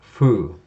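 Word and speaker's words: ふ: of this row is fu. It looks like it's fu, as in the Foo Fighters, or a hard F sound, but actually the Japanese pronunciation is a softer sound that's more like the H.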